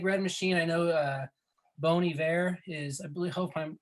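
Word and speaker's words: Bon Iver: machine uh big red machine i know uh bony bear is i really hope i'm pronouncing that correctly oh you got it yeah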